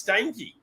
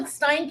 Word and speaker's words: Steinke: karen i think it's stanky well let's go with steinke it's like a steiner beer and a ke steinke that's right laura